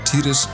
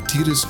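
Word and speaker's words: Tidus: maths debates with people either calling him tiris or titus and now it has of course been confirmed that titus is the official pronunciation which is more in line with his japanese name tita so in japanese there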